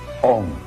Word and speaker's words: Om: Now, Om can be written in Roman letters either as OM or as AUM. O in Sanskrit is analyzed into A and U.